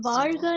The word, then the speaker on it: வாழ்க: ஸோ இந்த வாழ்த்துங்கிறது வாழ்க இந்த ரா உச்சரிப்பு டெஃபினட்டா ஆங்கிலத்துல இது வர்றதுக்கு வாய்ப்பு இல்லை.